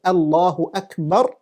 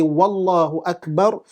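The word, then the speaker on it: الله أكبر: case, what they do is they try to pronounce the takbirah as Allahu Akbar according to how it is. You do not change. If you say Allahu Akbar, that becomes a problem. If you say Wallahu Akbar, that becomes a problem.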